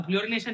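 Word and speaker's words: fluorination: फ्लोरोनेशन, अरे यार फ्लोरिनेशन, spelling देखना ना भाई ना, थोड़ी इंग्लिश मेरी ज्यादा अच्छी है।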